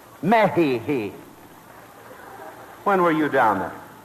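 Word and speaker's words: México: The correct Spanish pronunciation is Mexico. Mexico.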